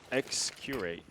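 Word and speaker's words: Xccurate: you pronounce that exactly from what Flair told me it's X curate X curate yeah I I I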